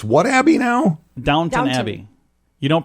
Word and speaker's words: Downton Abbey: coming in Dan it's it's what happy now Downton Abbey you don't pronounce the W in downtown I am literally